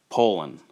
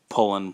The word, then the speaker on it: Poulan: in another video but the true way it's it's it's said is to be poland like poland like the country but with no d poland and uh yeah it's